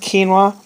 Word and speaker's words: quinoa: Quinoa is how it's spelled, but it's pronounced quinoa.